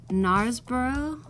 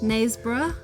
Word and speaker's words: Knaresborough: but listen the girl from Dallas is from nars borough is that how you pronounce X play nice breath nice bruh yeah Yorkshire oh yeah nice bruh yeah that's